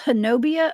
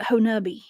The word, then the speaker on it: Honobia: That's Honobia, Oklahoma. They pronounce it Honubi.